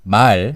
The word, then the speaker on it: 말: So if you pronounce it longer, it's 말. 말. And that's language. And 말 is a horse.